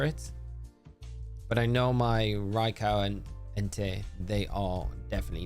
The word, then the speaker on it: Raikou: But I know my Raikou and Entei, they are definitely not shiny, which is sad, big sad.